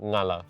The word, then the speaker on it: Ngala: languages as well, like the N and the G is like combined, but like it's not emphasized. Yeah. So it flows just into Ngala.